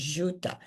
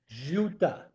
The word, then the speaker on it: Ziuta: My first name was Ziuta. Z I U T A. Nobody could pronounce it. So, I decided to pick Suzanne and that's how I became Suzanne. Ziuta?